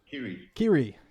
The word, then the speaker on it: Kyri: But anyways, welcome, Kyri, I believe it's pronounced. Kyri. Kyri announced him.